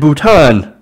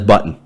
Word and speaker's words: Bhutan: knowledge is lacking at one meeting Trump allegedly mispronounced Nepal as nipple and Bhutan as button to sources told POLITICO what am I gonna